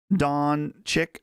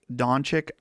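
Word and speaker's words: Dončić: Don Chick. Donic, that's how you pronounce his name.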